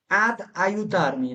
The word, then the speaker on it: ad aiutarmi: Vieni a ai- Vieni a আয়তামি aiutarmi, পাশাপাশি দুইটা আ হয়েছে না, এখানে আমরা একটা দ্বিযুক্ত করব উচ্চারণটা ভালো শোনানোর জন্য। কি শোনানোর জন্য? ad aiutarmi, দেখেন এখানে দ্বিযুক্ত করলাম কেন বলেন? আর সাথে, দুইটা দুইটা দুইটা ভোকাল একসাথে সেই কারণে। হ্যাঁ, এখানে কিন্তু আপনি যদি আয়ুত আর্মি বলেন ভুল হবে না, কিন্তু দ্বিযুক্ত করার কারণে উচ্চারণটা আপনার কি হইলো, একটু স্মুথ হইলো।